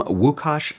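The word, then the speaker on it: Łukasz: pronunciation this is from wukash lycus wukash is from whoosh and he also includes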